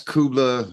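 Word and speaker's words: Kublai: Um, that's Kubla. That's how you say it, but it's K U B L A I.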